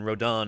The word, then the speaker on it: Rodan: Um, anyway, by Rodon, Rodan. Rodon is is how you actually pronounce his name.